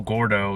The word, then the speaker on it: Gourdough: For those in the know, Gourdough is Spanish for fat, but it's spelled. I think it's Gourdough, like a donut for the dough part.